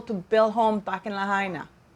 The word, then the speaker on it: Lahaina: I hope I'm pronouncing it correctly, guys. Lahaina. I looked online because I didn't want to be a Harry and not even know how to pronounce the name. But there's 4 pronunciations. One of them said Lahaina, Lahaina, Lahaina, you know, so Maui.